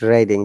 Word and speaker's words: Reading: we're reading that's right reading because red is read is the verb in this case if you say reading people will understand oh